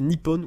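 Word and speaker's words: Nippon: utilisant ses caractères kji et prononcé Nipon ou nion je vais mal prononcer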